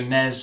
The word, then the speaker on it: NES: i think i think i think americans says nes don't they need it yeah nes yeah so nez and snez yeah for the uk yeah that's what we